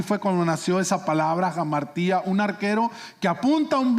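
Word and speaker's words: ἁμαρτία: Primero que nada, la palabra pecado viene de un vocablo griego que se pronuncia jamartía.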